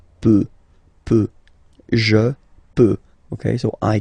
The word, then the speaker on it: peut: peut. Then, il, elle, peut. So you will put T at the end, you don't pronounce it.